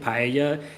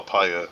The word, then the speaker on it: paella: do you actually spell paella is it it's spelled p-a-e double l a and it's pronounced so like in Spanish the Double L is pronounced as a y so bye yeah they